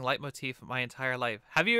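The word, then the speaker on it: leitmotif: i'm saying i think i'm saying it right it's late motif right not not lame motif or late motif it's light motif that's what i've always heard i think that's correct oh yes celadon absolutely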